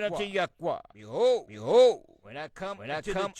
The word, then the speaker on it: Yahweh: reason why we use the four letters, which we pronounce Yahweh.